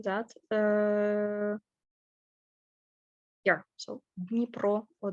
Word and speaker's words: Dnipro: So I'm pronouncing that. Yeah, so Dnipro or Dnipropetrovsk.